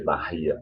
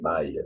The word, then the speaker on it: Bahia: A Bahia, there's an age there, so you don't pronounce, you don't say Bahia, you say Bahia, just that.